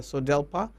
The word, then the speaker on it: SODELPA: So we told them the correct way to pronounce the name of this party is either SODELPA or Social Democratic Liberal Party, not SODELPA Party.